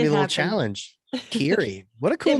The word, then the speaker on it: Kery: But it's spelled like Kerry, so it's like a trap.